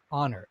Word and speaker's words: honor: a consonant sound honor you may notice that even though the first letter is an h a consonant the first sound is a vowel sound ah honor honor now because